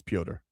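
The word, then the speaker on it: Petr: It's Poder. It's Russian. It's spelled PT R. Peter. You can say Peter, but that's not how it's said.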